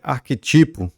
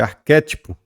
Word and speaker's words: arquétipo: é interim é intere não é arquetipo é arquétipo e não é recorde é